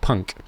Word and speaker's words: PUNC: I call it the PUNC, pronounced punk.